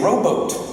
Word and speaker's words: robot: and the idea of robots are, the standardized English pronunciation robot didn't exist until the late 1960s. Until then, you often heard people say rowboat. No less an authority than Isaac Asimov called them robots.